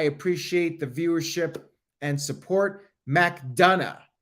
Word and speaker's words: McDonough: the viewership and support McDonough is how you pronounce his name JD McDonough I'm gonna